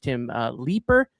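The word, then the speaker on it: Tim Leiper: Third base and infield coach Tim Leeper.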